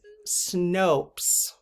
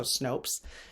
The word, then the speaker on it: Snopes: is totally fine um apparently it's Snopes snow so Snopes and if that's I mean that is how Google is telling me to pronounce it so Snopes so I my original